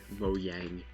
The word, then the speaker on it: Mojang: But it's a Mojang. It's apparently how it's pronounced.